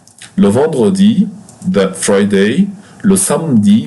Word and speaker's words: samedi: Le samedi, pay attention here, we don't pronounce the E here.